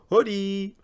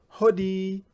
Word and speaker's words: hodi: in but in Swahili we have a special word that we use and that is hodi can I hear that from you hoodie yeah it's you knock the door and you accompany the knock with that word hoodie and then when they welcome